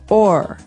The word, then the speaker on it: o'er: So this is a way to make the word over shorter, because over, you can hear it, 2 syllables, over. Mm-hmm. But sometimes we only want one, so we say or.